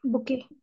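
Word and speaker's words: bouquet: लगता होगा ना जैसे ये बुके हम बोलते हैं तो इसमें लास्ट वाला ये टी साइलेंट रहता है ठीक है तो इसी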